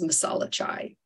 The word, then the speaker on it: masala chai: wanting a TT but the correct way to say this is masalachai there's also subgroups of